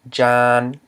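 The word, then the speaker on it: ຈານ: The j is a mid-consonant plus a live syllable because it ends in a nasal sound, both an elongated vowel and a nasal sound. So it's going to equal low tone. So I transcribed it with the low tone marker. And reading this word in Lao, we would just know that this word is pronounced with a low tone because of it follows the tone rule.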